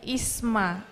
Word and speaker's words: Isma: Isma. Okay. Isma, not ism, right?